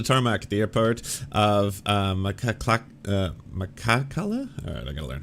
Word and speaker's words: Махачкала: rushed to the tarmac at the airport of Makakala? Alright, I gotta learn how to pronounce this. Hold on one sec. Ounce. Махачкала. Махачкала. Махачкала. Махачкала. Махачкала. Machachkala. At the airport of Makhachkala, the capital predominantly Muslim region, on Sunday night,